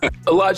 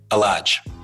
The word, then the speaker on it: Elladj: And so I have my grandfather's name, but my mom wasn't too familiar with how to pronounce Elladj. And so she asked my dad if we can modify it a little bit. So instead of the H, they added another L, and then it became Elladj.